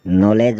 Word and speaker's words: knowledge: फिर हम चलते हैं डी अल्फ़ाबेट की ओर जिसमें डी साइलेंट रहता है। BRIDGE ब्रिज, ब्रिज मतलब पुल। EDGE एज, एज मतलब किनारा। SLEDGE स्लेज, स्लेज मतलब बर्फ़ की गाड़ी। KNOWLEDGE नॉलेज मतलब ज्ञान।